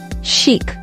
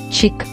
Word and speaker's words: chic: This word is pronounced as chic and not chick.